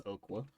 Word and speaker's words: Okwa: Yeah, that's how you pronounce that, by the way. That's Okwa. Okwa's one of my favorite cards.